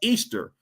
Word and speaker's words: Ishtar: Some called her the mother mother goddess Ishtar originally pronounced Easter.